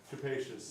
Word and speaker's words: capacious: room for things yes capacious we didn't learn that word like spacious it rhymes with spacious it's somewhat similar capacious